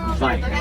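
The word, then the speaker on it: wyd: So the rhino, the white rhino gets its name from the Afrikaans term vite. Vite translates to wide mouth. It has nothing to do with its color. This is a mispronunciation of the word vite.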